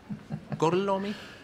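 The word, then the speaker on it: Gorlami: Gorlomi, lo pronuncio correttamente? Sì, corretto. Gorlomi?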